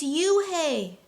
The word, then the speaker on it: Unhei: no no hey corrected it's spelled u-n-e-h-i it's pronounced oh it's you hey the boy said like you hey what about